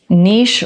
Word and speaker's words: niche: things he said was niche rhymes with kiche and kiche belongs in France and I'm like